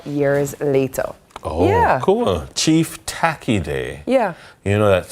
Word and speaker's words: Tacky: Chief Tacki Day. Yeah. You know that some people say Tachi is the proper pronunciation. Really? Yeah. So, like some historians will say tacky or tachy just to satisfy both people who I never knew that.